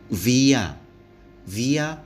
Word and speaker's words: via: akan F VCD nhwe cara membacanya Hai disini adalah v bukan f maka membacanya via-via wr3 Jalan Patria patriae artinya